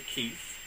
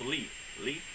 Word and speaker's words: Leith: Herb Evers, along with Virginia Keith, or Leith, not Keith, I'm sorry, it's Leith, L-E-I-T-H, that's better, let's just spell it and I'll quit trying to say it, right?